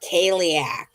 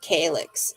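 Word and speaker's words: Cailleach: So I typed in what looks like Kaliak, right? But a lot of people pronounce it calyx. It depends on where you are, okay, as to how you pronounce it.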